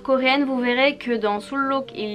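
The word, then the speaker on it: 순록: peu quand même l'apprentissage, mais à cause du L qui suit juste après cette syllabe, le N ne se prononce pas N mais se prononce L.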